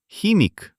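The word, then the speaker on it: химик: Next comes m before the second e. It also becomes soft. We learned this in the last lesson. Mi. And at the end, k. It turns out, chemic.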